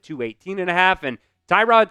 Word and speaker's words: Tyrod: And Tyrod Taylor or Terod Taylor as Billy likes to call him here. I guess that's really how you pronounce his name there.